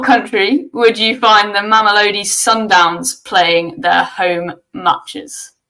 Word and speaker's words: Mamelodi: In what country would you find the Mamelodi Sundowns playing their home matches? The who? The Macaroni Sundowns? It's Mamelodi. I think it's pronounced Mamelodi.